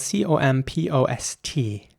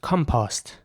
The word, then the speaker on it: compost: in british english this would be pronounced compost com post in american english it would be more like compost the o at the end is very round compost in american english here's